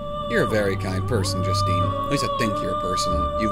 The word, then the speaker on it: Justine: highlighted in her name so it's just Steen not just Stine there's no emphasis on the e so your name is Justine that is actually a